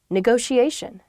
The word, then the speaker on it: negotiation: word is negotiation negotiation yeah there are two T's in this but neither T is a hard T they're both very soft that sound because they're followed by the eye and another vowel that she a negotiation